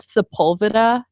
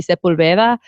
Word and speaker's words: Sepulveda: But it's kind of like there's a street called Sepulveda in LA, which is so wrong. It should be Sepulveda, but nobody pronounces anything with a Spanish accent, so whatever.